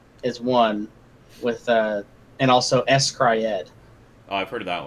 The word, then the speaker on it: s-CRY-ed: I was gonna say it's literally S-Cry-Ed.